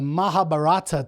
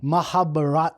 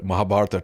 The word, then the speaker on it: Mahabharata: on the pronunciation because there's like a real hard H or something when I've been hearing these podcasts I've been listening to mahabat mahabat can you say it mahab not even close mahab say it again